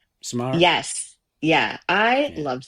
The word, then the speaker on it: Samara: How do you pronounce her ready or first not, name? Samara.